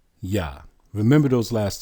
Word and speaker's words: Yah: How is it pronounced? YAH.